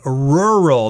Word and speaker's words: rural: in a rural setting rural that's actually two syllables they're kind of hard to say because you got two are sounds they're rural that's even hard for me to say that's the opposite of